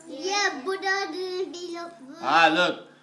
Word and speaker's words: Buddha: Actually it's not Buddha, it's Buddha. Buddha. Buddha. Buddha. That's actually the proper way to pronounce his name.